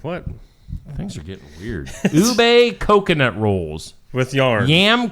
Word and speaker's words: ube: And it's pronounced apparently. Yeah. I don't know. You tell me. Bubet. Bubet. I don't know. That's what Amber says. Ube.